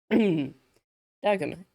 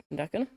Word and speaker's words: Dagon: Dagon. Dagon? I believe it's pronounced Dagon, but that might be again because yeah, I'm Finnish and pronouncing it in a Finnish way.